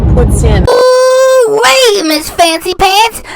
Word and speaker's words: poutine: So it's not poutine. It has to be pronounced poutine. That's the way they do it in Montreal, in the belle province of Quebec, Canada.